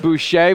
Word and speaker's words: Boucher: Probably not the defensive stand there that head coach Keith Boucher, which is pronounced the French way, was looking for there at the end.